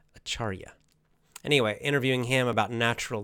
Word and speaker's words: Acharya: In 2 days, again, I will interview Sri Dharma Pravartika Acharya. The last word, I always want to say the R in the wrong place. Acharya.